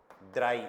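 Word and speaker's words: drei: या स्वाई जेड डब्ल्यू ई आई स्वाई स्वाई कैसे लिखेंगे स्वाई स्वाई स्वाई देन थ्री के लिए हमें लिखना है ड्राई इसको फिक्स याद रखना ड्राई मत करना क्या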